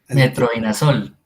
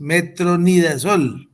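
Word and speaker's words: metronidazol: Usted menciona la palabra metrodinasol. Es exacto. Así no es. Es metronidas. es una usted la pues la pronuncia de manera errónea, pero bueno, hay que corregir esa esa ese aspecto.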